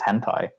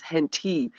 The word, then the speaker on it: hentai: that there was a hentai convention but my dad pronounced it as henti and was very confused and yes I had